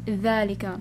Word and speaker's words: ذلك: Okay, ذلك, not ذلك, it's ذلك. Alright, we pronounce it as ذلك.